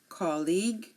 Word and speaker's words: colleague: vowel um for example colleague guard guest guide guitar here notice you are not hearing the U in any of my pronunciation again colleague guard guest